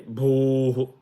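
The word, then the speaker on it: भूः: Say bhuhu, bh. The nabhi, the air has to come from the nabhi.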